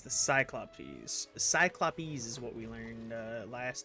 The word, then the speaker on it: Cyclopes: Cyclopes is what we learned last time, is how to pronounce it.